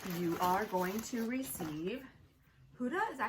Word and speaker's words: Huda: In this giveaway, you are going to receive Huda, is that how you say it? Yes, Huda Beauty.